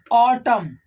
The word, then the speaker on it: autumn: in the combination of this n will be silent but n is n